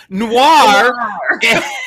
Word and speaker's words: noir: they're crime no it's not s'mores and it's not no it's noir and s'mores. What the hell is Rob? YOU DO THIS TO BUG ME. THIS IS NOT INCIDENTAL, nor is it accidental. You know, it's the French word for black, which is noir. Noir, crime, noir. That's It doesn't rhyme with manure.